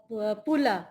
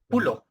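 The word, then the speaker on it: puluh: only come once okay so imp uh then Pula empath Paula lampan very good okay okay but just on the pronunciation it's pul p u l u h pul yes good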